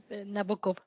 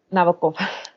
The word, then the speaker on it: Nabokov: Ay, siempre pronuncio mal su nombre. Nabokov. Nabokov.